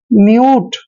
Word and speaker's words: mute: जैसे MUTE, यहाँ पर भी U के बाद T आया है और बाद में फिर E आया है। U के बाद जब भी कोई कॉन्सोनेंट आए और बाद में E आए तो U का उच्चारण U ही करना है। इसको पढ़ेंगे हम म्यूट।